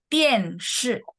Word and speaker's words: 电视: Televisi, 电视 oh, bacanya nadanya nada 4 semua, jadi 电视.